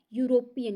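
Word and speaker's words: European: यूरोपियन में ई आप सबको पता होगा बच्चों की ई जो है साइलेंट होता है, उसके बाद यू है, यूरोपियन यहाँ य की साउंड आ रही है, ना कि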